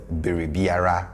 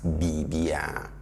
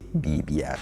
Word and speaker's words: biribiara: I told you that we mostly reduce the sound that comes between vowels. So instead of Biribiara, which you will not